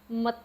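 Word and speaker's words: ម្ទេស: This is a long A with H, the air after it. Te. Mate, mate. So again, it's te with the air, mate, mate. Okay, chili pepper.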